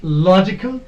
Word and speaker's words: logical: Or if it is logical, we will give stress here on lo. Logical.